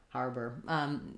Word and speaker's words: harbor: an ore there harbor harbor not really though you want to use that reduced er sound because it has first syllable stress so har is stressed and bur is short and if it's hard